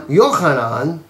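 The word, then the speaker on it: יוחנן: to keep in mind John yanan is in Hebrew we say his name he walked with him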